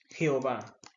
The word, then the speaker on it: Jehová: En Latinoamérica lo pronunciamos con J, Jehová. Pero en el hebreo no se utiliza la J, sino que se utiliza la y es Jehová.